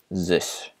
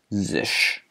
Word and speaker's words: Zsh: What I use most of the time is something called Zish. Zish. It's spelled Zsh.